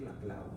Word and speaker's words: Laclau: Hay gente que lo pronuncia Laclau, hay gente que lo pronuncia Laclau. En castellano lo correcto es decir Laclau, porque en castellano se pronuncia como se lee, ¿no?